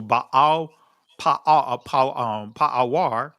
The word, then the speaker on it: Baal Peor: And Israel joined himself into Baal Pa'awar, or that's the ancient pronunciation of it, but Baal Peor, and the anger of Yahweh was kindled against Israel.